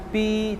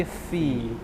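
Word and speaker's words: في: Yang pertama, hati-hati dengan huruf ini, jangan baca pi tapi fi. Cara bacanya ujung gigi di atas, bibir bawah bagian dalam.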